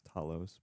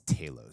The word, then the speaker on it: Talos: Talos in the movie I thought it was Talos but well Nick Fury says Talos so I suppose I should alter my pronunciations yes Carlos actually Carlos